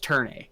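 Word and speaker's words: ∀: Now, what needs to be mentioned about this is the weird symbol. It's pronounced Turn A. Yeah. Yeah. It's an upside down A basically.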